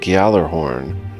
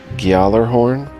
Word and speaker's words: Gjallarhorn: Lands is going to be the indie CRPG Gjallarhorn. I think I'm pronouncing that right. Gjallarhorn, G-J-A-L-L-A-R-H-O-R-N, Gjallarhorn.